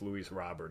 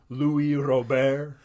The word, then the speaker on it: Luis Robert: on the socks on my fantasy team that's Luis Robert he's like the only player worth a damn